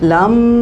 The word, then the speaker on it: लं: लम का उच्चारण करें आपने स्टार्टिंग में तो बोलते हैं कि लम चटिंग म की साउंड को लंबा करना करना है। अच्छा कैसे जरा बोलिए। लम अच्छा फिर लंबी गरी सांस भरो।